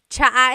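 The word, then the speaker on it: tsa: Cha in Tagalog is T like the tea that you drink. And it's spelled T S A. Cha. Cha. That's such a Tagalog spelling. I love it. There's the TS sound and then the double vowel uh pronunciation.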